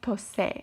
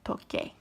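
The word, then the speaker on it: toqué: And that's pronounced tose, and we really want to preserve pronunciation, the hard k sound. So that is why the C changes to a Q, and you get, a QU, and you get toque. That's the right version, not tose.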